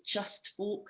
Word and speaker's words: cheust: That's what just says in the Orkney language, the word just is spelled CHEUST, so it's just folk, the way they pronounce it with a CH, and it's absolutely beautiful.